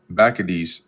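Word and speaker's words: Bacchides: being those that uh Bakades which that's the actual correct pronunciation. I looked it up.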